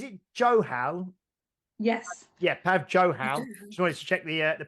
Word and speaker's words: Johal: Yeah, Pav Johal. Just wanted to check the pronunciation.